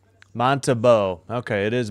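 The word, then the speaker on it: Montembeault: I should get hockey reference up and get some of these pronunciations, I think. Let me listen in. Vladaro. Montabau. Okay, it is Montabau.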